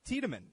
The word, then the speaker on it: Tiedeman: conservatives I have uh John amble and Chris tman am I pronouncing your last name right Chris yeah absolutely